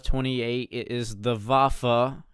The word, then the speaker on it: Waffe: It is not the Waffe 28, it is the Waffe. You pronounce a W as a V, Waffe.